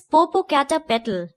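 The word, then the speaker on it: Popocatépetl: Father, I know how to pronounce it. It is Popo Cata Petal.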